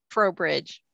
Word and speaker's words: Trowbridge: So if you could pronounce it, that would be great. Sure. It's Trowbridge.